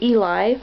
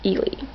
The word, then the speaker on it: Eli: I kept wanting to say Eli because I used to work with a girl named Elizabeth who went by Eli for short, but in the movie, they pronounce it like Ely. So, Ely.